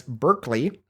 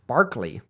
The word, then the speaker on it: Berkeley: we pronounced this as Berkeley like the University of California Berkeley but apparently in England it's pronounced Barkley I did not know